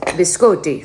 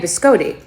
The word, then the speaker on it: biscotti: pronounce Italian things and they say that biscotti comes from the word biscum and it's biscotti so I've been saying biscotti cuz that's what it is but that's so Tick